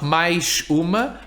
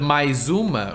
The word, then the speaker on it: mais uma: Not mais uma, but mais uma, right? Because it's between an I and a U. Mais uma.